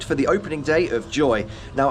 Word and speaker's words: YOY: the opening day of Joy. Now, I know it's spelt YOY, we might make that mistake a few times, but apparently even the Dutch hate the name, so YOY, Joy, we're here.